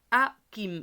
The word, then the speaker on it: Hakim: Donc ici, le H, on ne le prononce jamais. On ne dit pas Hakim, on dit Hakim. D'accord? Hakim.